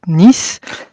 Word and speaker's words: Nys: ce qui permet d'avoir trois prononciation de mon nom qui sont complètement différentes voilà pour les francophones c'est nice je suis auteur j'ai